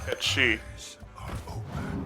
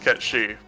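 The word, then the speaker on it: Cait Sith: Yeah, Kate Sith in FF7 is pronounced Ket-She. It's actually supposed to be pronounced Ket-She, but the people who insist on Aerith don't actually care about that pronunciation.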